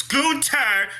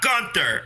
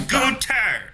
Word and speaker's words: Gunther: And it's Gunther, not Gunther. All right? It's Gunther.